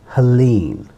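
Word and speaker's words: Helene: after we recorded this video so the correct pronunciation for this name is Helen Helen or that's what I've heard on American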